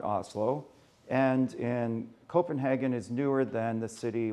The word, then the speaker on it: Copenhagen: So we flew to Helsinki, and then I flew to Copenhagen, København, something like that in Danish. I won't tell you how everyone pronounces stuff, but the Danes have to swallow everything.